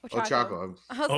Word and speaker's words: Ochako: no, okay, no, my seventh spot would be Orokocho from My Hero. I think she's awesome. I love her. Right, that's how you say her name. Ochako. Ochako.